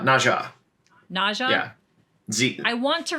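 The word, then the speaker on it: Nezha: to read on for how do you say it Neza NRA nezza nesra nezza or na no it's Naja Naja NAA yeah I want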